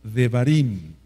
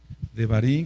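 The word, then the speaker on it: Devarim: libro de deuteronomio y en realidad se pronuncia de varín de varín que quiere decir palabras o hablar palabras varín vamos para allá si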